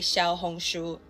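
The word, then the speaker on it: 小红书: I mean, I got Rednote, aka Little Red Book, aka Xiao Hongshu. That's literally how you say it in Chinese.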